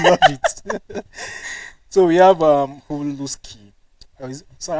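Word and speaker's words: halušky: as an indigenous, it is supposed to be pronounced as Huluski.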